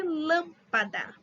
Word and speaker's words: lâmpada: como no caso de lâmpada se a gente separar lâmpada só três sílabas a forte é a antepenúltima lan lâmpada lâmpada Então ela é proparoxítona a câmera tímpano médico